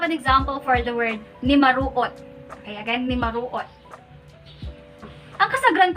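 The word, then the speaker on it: numaruot: So it's not S, but T. Okay, T. So we have N, U, M, A, R, U, O, T. Nimaruot. Okay, again, nimaruot.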